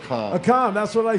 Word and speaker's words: Akam: And what's the last one pronounced? Akam? Akam, that's what I said.